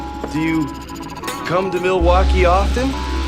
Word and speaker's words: Milwaukee: Do you come to Milwaukee often? Actually, it's pronounced milwauke for the good land.